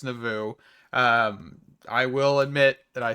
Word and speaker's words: Ars Nouveau: we are getting into Ars Nueva, just a little bit, or Ars Nouveau, whatever you want to call it. I know I say Ars Nueva, it's not pronounced Nueva at all, it's Nouveau.